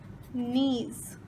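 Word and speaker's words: knees: इनको हम कहते हैं नीज। तो ये एक नी, ये दूसरा नी, दोनों मिला के नीज। इसमें हम के को नहीं पढ़ेंगे, सिर्फ ये पढ़ेंगे, लेकिन स्पेलिंग इसकी ये है।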